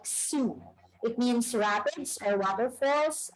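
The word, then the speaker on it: Sault: flight from toronto so this is how we pronounce our name once again it's like sue it means rapids or waterfalls because we are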